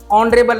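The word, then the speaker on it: honorable: देखो आप क्या है ये ऑनरेबल है एज साइलेंट है इसमें तो इसमें क्या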